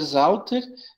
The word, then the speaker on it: Sauter: Meu nome é Sauter, né? O se escreve com IE, mas se pronuncia I. E Sauter se escreve com S, mas se pronuncia Z.